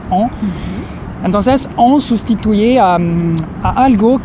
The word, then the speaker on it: en: El primero es en, entonces cuidado con la pronunciación, es el sonido de la A nasal, entonces en.